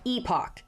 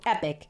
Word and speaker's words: epoch: time called an epic Epoch if you like the British pronunciation epic if you like the American and I like epic cuz it's more epic wac I haven't included